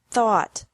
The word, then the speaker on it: thought: Think, thought, thought. Remember that the G is silent in these verbs.